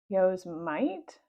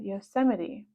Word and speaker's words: Yosemite: read a single word on both covers Yosemite Yo's might said Annie Jack laughed now it's pronounced Yosemite he said Yosemite what is that asked Annie I've heard of